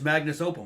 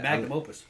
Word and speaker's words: magnum opus: Yeah, that was his magnus opum, wasn't it? Yeah. Magnum opus.